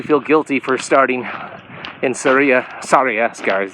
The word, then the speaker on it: Sarria: So the whole point of that is to make you feel guilty for starting in Sarria, is how it's pronounced, instead of starting at the beginning.